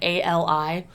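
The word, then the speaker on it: Alia: And then the Harkonnens find Lady Jessica's daughter, which I can never pronounce her name right. It's Ali.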